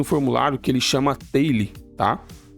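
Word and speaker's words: Tally: Eu utilizo um formulário que ele chama Taily, tá? Acho que é assim que pronuncia, tail. Soo.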